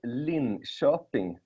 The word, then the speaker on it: Linköping: are lecturing in education it's called Lynn shopping University yeah it was you